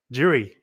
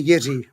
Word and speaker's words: Jiří: This one is a question from Jiri, and I think I might have that name wrong. Thomas, is that how I say it? Well, we say Jiří, but that's okay. It's a Czech name, right?